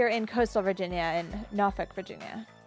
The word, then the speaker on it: Norfolk: We are in coastal Virginia, in Norfolk, Virginia. I'm glad you pronounced that correctly. Not Norfolk. Yeah, we're not in Massachusetts. So anyway, yeah, what have we done in our couple months off?